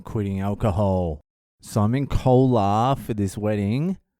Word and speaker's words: Kolar: boil and I'm quitting alcohol so I'm in Cola for this wedding it's spelled k-o-l-a-r if you want to check it